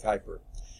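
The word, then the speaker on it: Kuiper: pronounce his name but we usually say hyper okay i'm guessing just the way usually it's pronounced that would be quie per but we use as like hyper he was born in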